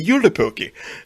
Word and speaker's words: Joulupukki: So yeah, when you were talking about the goat, I was like, I think that's supposed to be Joulupukki. And that's actually how it's pronounced.